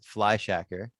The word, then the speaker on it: Fleischacker: yourself fly your real last name is fly shacker am i pronouncing that right you are pronouncing that right i just learned the pronunciation of that recently so that's correct my last name is fly shacker fly is a nickname because our family growing